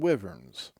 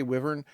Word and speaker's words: wyvern: antlions, camels, jackals, and wyverns. Or do you? I say wyvern. I suppose you could say wyvern. Up to you. Again, up to you. I don't think there's a correct pronunciation there on that.